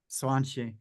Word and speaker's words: Swanchi: So often, Swanchi, am I pronouncing it correctly, Swanchi? Yes, yes, yes.